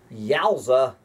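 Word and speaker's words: GAUSA: Also, the population of the new Great Again USA G-A-U-S-A, pronounced Yowza, would total about 630 million.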